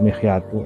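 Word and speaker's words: مخيط: Kemudian mikhyat tadi, kama yang kusul mikhyatu ya, bacanya mikhyat, mimnya di kasroh, khoknya disukun, ya.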